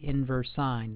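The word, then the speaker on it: inverse sine: wrote on the screen here this is the inverse sign that's how you pronounce it inverse sign inverse cosine inverse tangent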